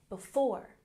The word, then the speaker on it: before: Before, we have stress on the second syllable. Before, before.